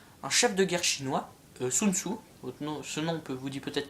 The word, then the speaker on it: Sun Tzu: alors son nom s'écrit de différentes manières, vous voyez, là il s'écrit TSE, mais c'est Sun Tzu quand même.